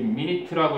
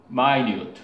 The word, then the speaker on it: minute: 그럼 뭐랑 비슷하냐면 이게 minute라고 읽지 않고 뭐라고 읽니? minute.